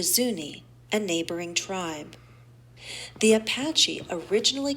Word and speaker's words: Apache: they call them Apaches by WM acres the Apaches one of the most famous Native American groups